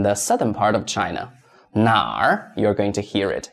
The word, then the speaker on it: 哪: Number two, which? 哪?哪? Remember, this is the third tone.